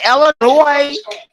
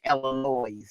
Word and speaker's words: Illinois: Shout out to my niggas in Illinois. People be fucking up my state, be calling it Illinois because it got an S on the end, but the S is silent, so it's Illinois.